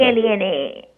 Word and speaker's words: Elena: E-L-E-N-A. No, the H is silent.